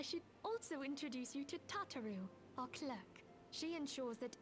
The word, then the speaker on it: Tataru: a while apparently because kataru it's tataru like I promise you that's how they pronounce it later in the game it's tataru please to make your